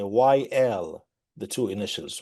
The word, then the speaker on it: Wael: to introduce myself with the two initials, Y L, because that's how my name is pronounced.